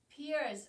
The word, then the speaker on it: Pierce: Pierce also has a silent E at the end of his name.